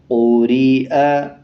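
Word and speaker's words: قُرِئَ: इसको जब पढ़ा जाएगा तो या को साइलेंट करना है, या की आवाज़ को नहीं निकालना, बल्कि जो या के ऊपर हमज़ा है और हमज़ा के ऊपर ज़बर है, ये हमज़ा ज़बर आ पढ़ा जाएगा, बल्कि या हमज़ा ज़बर नहीं पढ़ा जाएगा।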